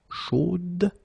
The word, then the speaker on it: chaude: So here you pronounce the final D, whereas in the masculine form you don't pronounce it.